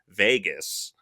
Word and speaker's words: vagus: I'm going to try to pronounce it right. Vegas.